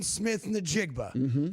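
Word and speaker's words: Smith-Njigba: It's Jackson Smith Nigba.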